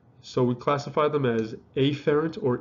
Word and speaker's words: afferent: as afferent or efferents i emphasize uh the a or the e specifically so i don't get confused with my pronunciation afferent and efferent sound very close all right so an afferent emphasizing the a here all right this